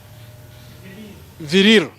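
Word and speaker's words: VLIR: How do we pronounce it? Virir.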